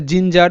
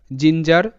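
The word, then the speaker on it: ginger: হচ্ছে জিঞ্জার, জি আই এন জিন, জি ই আর যার, জিঞ্জার, জিঞ্জার, genius, G easy N আই ইউ S genius. তো এখানেও কিন্তু জি এর উচ্চারণটা বর্গীয় জ এর মতো।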